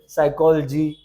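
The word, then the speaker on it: psychology: पेन put please pack अब कुछ जगहों पे पी साइलेंट रहता है वो वाला भी समझ लीजिए टेंप्ट साइकोलॉजी डिसीड एमटी साइक यहां साइलेंट है ठीक है तो ये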